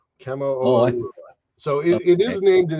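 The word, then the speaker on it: Kamoʻoalewa: It's Hawaiian, so it's hard for me to pronounce it, but it's Kamo-Oa-Liwa. Kamo-Oa-Liwa.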